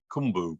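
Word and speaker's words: Qumbu: took in uh near kumbu which is pronounced with a click in South Africa in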